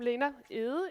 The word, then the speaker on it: Lena Egede: Yes, I'm Lena Egede, if you want it pronounced in the Danish way.